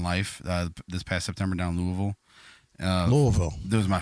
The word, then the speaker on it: Louisville: this past September down Louisville uh Louisville there was my first Louisville Louisville got you got to say it like that not Louis not not Louis Louis nins and Louisville it's Louisville yeah yeah um and uh